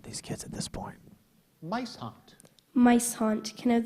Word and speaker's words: muishond: Mice haunt, Mice haunt. Can I have the definition, please? either of two southern African weasels that emit a fetid odor when disturbed. Mice haunt.